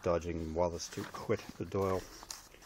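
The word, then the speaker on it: Dáil: In the Sunday Times, TD's call for VAT dodging Wallace to quit the Doyle. If you're from outside of Ireland, that's pronounced Doyle.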